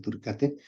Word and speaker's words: turicatae: Entonces pudiéramos decir que Asfeli, Burgdorferi y Garini, las 3 están en humanos, pero Dugesi y Mazzotti y Turicate, se escribe Turicatae, pero se pronuncia Turicate, estas están en animales, pero eventualmente pudieran también infectar el humano.